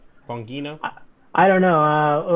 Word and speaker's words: Bongino: okay yes there's don bagino there with all his you know wait which ha i'm pronouncing that wrong how's that supposed to be pronounced bongino i don't know uh